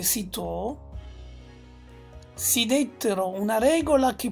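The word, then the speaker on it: Cîteaux: del monastero francese di cito si legge sito si dettero una regola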